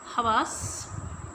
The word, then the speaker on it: حواس: بھی ازبر ہو جائے۔ حواس، ہے پر زبر، واو کے اوپر زبر اور سین کے اوپر جزم کیونکہ آواز رک رہی ہے۔ मुख्तल, मीम के ऊपर